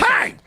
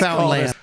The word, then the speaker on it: Newfoundland: It's Newfoundland. Oh man. You're supposed I to just like say it quickly. Newfoundland.